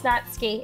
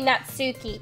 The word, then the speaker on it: Natsuki: No, it's actually how you pronounce Natsuki. It's not, you don't say Natsuki, it's Natsuki.